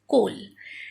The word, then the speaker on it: coal: Coal, C-O-A-L, coal. Okay, here also OA is pronounced as O. A is not separately pronounced.